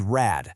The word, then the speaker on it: Rad: Because that D in rad is at the very end of the word. It sounds like a T.